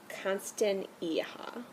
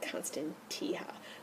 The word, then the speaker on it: Constantia: this guy for a while this is a constant aha I would've said constant Teja but when I looked at it through the